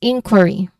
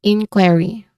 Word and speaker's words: inquiry: So it starts with a consonant blend kw and then ends with a letter R sound. And uh stressed syllable here is qu. Okay. So the third syllable is re. There's a short e sound here.